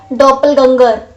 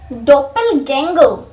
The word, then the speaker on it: doppelganger: We pronounce this word like, we don't pronounce this word like doppelganger. Doppelganger. We pronounce this word like doppelganger.